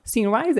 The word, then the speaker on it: Symrise: E mais recentemente foi, né, a IT Latam, né, da Symrise, é assim que pronuncia?